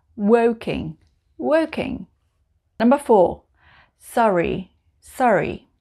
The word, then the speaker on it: Surrey: working working number four sorry sorry in the south of england it's called surrey sorry sorry number five it's